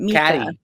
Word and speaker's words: Micah: With Katie, and Mika. Caddy. And the whole time I wanted to be like, but it's spelled Micah. It is spelled Micah. But I guess Mika is the theme.